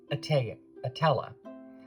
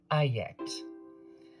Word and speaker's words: Etteilla: Double L's in French form a Y sound. So his name in French would be Ayette.